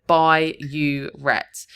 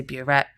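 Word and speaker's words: burette: One common mistake here is writing bureet instead of by uret. They will accept if you've spelled it incorrectly, but phonetically it sounds the same. But I just split it up here to try and help you remember. By don't say boret, you're going to lose the mark.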